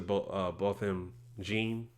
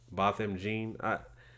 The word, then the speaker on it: Botham Jean: I mean, and I'm not surprised by this because the guy, and rest in peace to Botham Jean, I believe that's how you pronounce his name, Botham Jean.